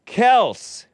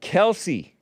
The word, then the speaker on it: Kelce: It's Kelce. It's not Kelce. It is Kelce, only because everybody was calling it Kelce. But originally, it was Kelce.